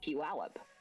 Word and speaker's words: Puyallup: large city named that it you pronounce it Puyallup but everyone who comes